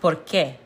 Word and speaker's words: por qué: So, it's pronounced por qué. Por qué? Anytime you see an accent over a letter, that means you put more emphasis on it.